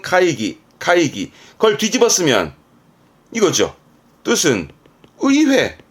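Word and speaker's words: 会議: 발음은 카이기.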